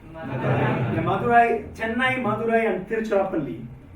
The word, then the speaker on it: Tiruchirappalli: Tiruchirappalli is quite complex for the Englishman. When India was colonized by the English, they just cut it short at Trichy. So they don't want to pronounce the entire word, so they call it Trichy. but it's actually Tiruchirappalli.